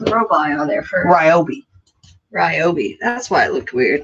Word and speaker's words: Ryobi: Ryobi. That's why it looked weird. Because I was not pronouncing all the letters. Or some people say Ryobi. Ryobi.